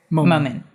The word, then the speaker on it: Momin: okay perfect very nice and how do you pronounce the last name moment moment moment moment yeah here we go very